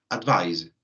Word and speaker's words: advise: Que lo podemos ver acá, termina con Z, que es advice, ¿cierto? Donde esa S que nosotros pensamos que es, no es una S, es una Z, por ende vibra un poquito más al pronunciar.